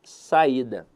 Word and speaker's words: saída: E eu quero avaliar com vocês aqui a palavra saída. Veja que a sílaba tônica dela está na penúltima sílaba. Então a verdade é que a palavra saída é uma paroxítona.